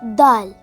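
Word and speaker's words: دال: Let's watch Daal. Hi, my name is Daal. Daal. Daal. It sounds like the English word the.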